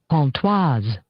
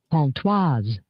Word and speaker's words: Pontoise: Pontoise. I was right. Don't you dare tell me I don't know my little bit of French. Yeah. Pontoise.